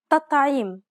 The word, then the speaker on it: تطعيم: Notice how this word is spelled with a regular T and with a dark T. But listen to the pronunciation. تطعيم تطعيم. It's as though both of the T's were dark. It's actually easier to pronounce both of them dark as opposed to pronouncing one soft and one dark.